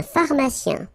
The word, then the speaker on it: pharmacien: So remember, P-H. So these combination of these two letters will produce the F sound. Fa, fa. Pharmacien.